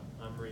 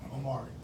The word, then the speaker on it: Omari: Now I know, for example, Omri, did I say that right? Omari. Omari. Yes. Omari. 3 syllables.